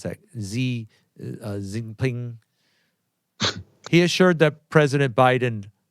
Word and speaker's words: Xi Jinping: Chinese President, how do you pronounce that? Xi Jinping.